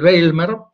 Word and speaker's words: Bijlmer: Este que están viendo es el Bijlmer, en Ámsterdam así se pronuncia.